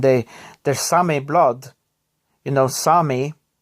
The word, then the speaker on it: Sami: You know, Sami, or Sapmi as it's written, but it's pronounced Sami, is very strong within my family.